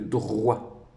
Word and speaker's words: droit: Alors ici, tu vois qu'on a le D et le R qui font le dr, le O et le I qui font le wa, donc c'est le droit.